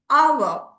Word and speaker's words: hour: So since the h is silent here he was driving at 50 miles the sound here is hour.